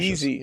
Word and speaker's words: Yeezy: Um, Kanye West, his uh his going on his is it the easy token? Um, it cracked. Yeezy. It's pronounced Yeezy. Oh, Yeezy. Yeezy. It's pronounced Yeezy token.